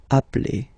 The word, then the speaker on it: appelle: So when you get this e vowel and then you get a double consonant, and well, they are the same, then it does change the pronunciation of e. You tend to pronounce it like really open.